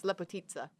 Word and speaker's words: Lepotica: Lepotica, but it's based off of a Serbian word, so the ICA is pronounced as like an Italian ST. Z. Yeah. Yeah, so it's Lepotitsa.